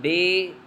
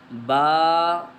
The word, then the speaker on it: ب: تلفظ سے پرہیز کریں، یعنی بے، تے، سے، حے، خے، طے، غے وغیرہ ہرگز نہ پڑھیں، بلکہ با، تا، سا، حا، خا، طا، ظا پڑھیں۔ اس مثال کو ہم